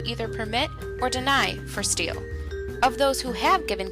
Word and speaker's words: STHL: sites on the internet sthl or steel is short for southern tier healthlink steele is your local